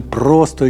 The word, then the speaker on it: просто: ми просто собі ішли А треба ставити наголос на просто Та ще й сповільнити темп ми просто йшли бо це слово вжито тут у значенні прямо рівно на жаль цього значення